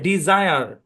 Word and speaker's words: desire: এ বরাবর ভাগ হবে, এই শব্দের উচ্চারণ হচ্ছে ডিজায়ার, ডি, জায়ার। এখানে এস এর দুই পাশে কিন্তু ভাওয়াল আছে, এই কারণে বর্গীয় জয়ের মতো সাউন্ড দিবে।